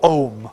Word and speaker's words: Ogham: Ogham or Ohm, okay? Sometimes spelt with the H or not, depending on which Irish orthography you want.